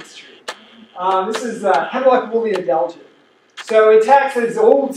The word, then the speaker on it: adelgid: And adelgid. A-D. Any spelling I'm going to defer, Laura? It's woolly adelgid. A-D. I can't say it out loud. A-D-E-L-G-I-D. Just the way it's spelled.